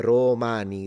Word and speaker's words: Romani: I wouldn't but the idea that I have to lengthen this a bit like uh romani that's also another weird one that I have to lengthen the o but that's how it is.